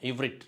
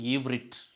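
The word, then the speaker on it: עברית: இது எபிரேய மொழியை இப்படி தான் உச்சரிக்கணும், சொல்லணும் இவ்ரிட் அப்படின்ட்டு. இப்போ நம்ம பிற்காலத்தில் அது ஹீப்ரு, எபிரேயம் என்று மாறிப்போனது. கரெக்டான உச்சரிப்பு ஈவ்ரிட் அதுதான்.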